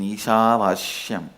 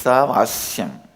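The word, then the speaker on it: ईशावास्यम्: Listen, my pronunciation Ishavashyam is also Padabeta. How I heard from my masters, I am repeating, but actually it is Isavasyam.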